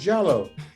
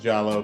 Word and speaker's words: Diallo: jello your name is jello and i'm like well yes it should be pronounced jollo but uh you know